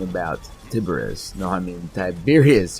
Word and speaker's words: Tiberius: No, I mean Tiberius. Yeah, it's pronounced Tiberius.